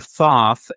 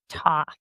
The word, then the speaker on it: Thoth: But I think the idea is to pronounce it as like theta, TH. Right. TH. So Thoth, I think, is probably the safer pronunciation.